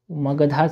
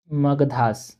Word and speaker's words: मगध: म मगदा ठीक है मगदा नहीं होता यह गलत स्पेलिंग मि यहां पर ये होता है मगधा ठीक है वही बट